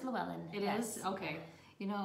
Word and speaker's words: Llewellyn: It's called How Green Was My Valley, and it's by Richard, and I'm going to say the last name wrong because it's Welsh. Do you want to say that? Llewellyn? Oh, it's Llewellyn.